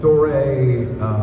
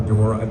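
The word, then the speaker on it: Doré: So Dore, or Dora, the pronunciation always varies.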